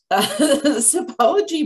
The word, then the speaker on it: Sipology: bicycle or let me say it right it's apology by steve t and i've been with them